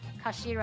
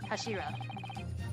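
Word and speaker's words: 頭: It's written as head in Japanese, but it's pronounced as Kashira, I believe. Yeah, something is in here. No, Kashira.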